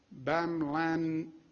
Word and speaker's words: bamlanivimab: Additional good news, FDA has allocated 4,600 doses of the therapeutic bamlanivimab. How do you pronounce that, doctor?